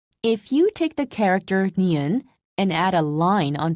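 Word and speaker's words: 니은: making the neon shape niun is also a nasal tone listen carefully when pronouncing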